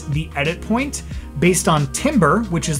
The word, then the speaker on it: timbre: So focusing on timbre, it's spelled timbre, but it's timbre, or harmonics in your track where it's making the edit point, right?